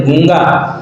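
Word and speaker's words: गूँगा: गूंगा में आप देखि जब उच्चारण करेंगे तो बोलते गूंगा तो चंद्र बिंदु का इस्तेमाल करेंगे वो शुद्ध शब्द है गरुड़ अब गरुड़ में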